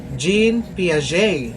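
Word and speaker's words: Jean Piaget: So the way to pronounce his name is this Sigmud Freud. Now this one, Jean Pia.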